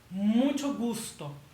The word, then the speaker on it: mucho gusto: Next word, we have mucho gusto. Mucho gusto. Pretend it's spelled like this.